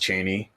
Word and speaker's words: Chani: So she plays Cheney, which it looks like Chani, but it's pronounced Cheney.